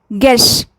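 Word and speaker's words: guest: जैसे गेस्ट, इसमें you silent है क्योंकि साउंड ई का आ रहा है। गेस्ट, इसमें भी साउंड ई आ रहा है, यू एब्सेंट है।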